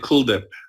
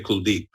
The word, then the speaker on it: Kuldeep: I pronounce it Kuldip, very Americanized. But the Indian, they put more emphasis on the second half of the name. So they'll say Kuldeep.